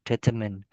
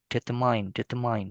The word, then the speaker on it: determine: Yeah, determine. Usually you pronounce it with determine, yeah, but the correct pronunciation is determine.